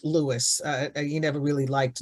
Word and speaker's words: Louis: uh I I think people you know will call people named Louis Louie but he you know preferred Lewis uh he never really liked Louis but people do call